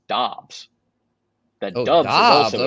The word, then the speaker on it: Dobbs: Nevada Sportsnet says the initial conversation was whether it was Dubs or Doubs, and Dubs won out.